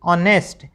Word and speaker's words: honest: HOUR का उच्चारण क्या है? आवर। HONOUR ऑन, HONORARY ऑनरेरे और HONEST ऑनेस्ट।